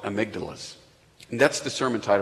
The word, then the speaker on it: amygdala: Because if I spelled it the way it was spelled, I'd be like, Amundabugalakunda. I couldn't pronounce it. So I actually went online, I YouTubed it, and like, how do you say this? It's amygdala.